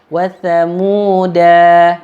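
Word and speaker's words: وثمودا: Contoh yang kedua, wa thamuda fama abqa. Ada huruf alif tapi atasnya bulat. Maka tidak boleh dibaca panjang. Wa thamuda, enggak boleh, langsung cepat.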